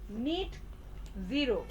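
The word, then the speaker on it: net zero: নিট জিরো, এটার উচ্চারণ কিন্তু নেট বলবেন না, ঠিক আছে? NET মানে নেট না, এটা হচ্ছে উচ্চারণটা হবে নিট জিরো।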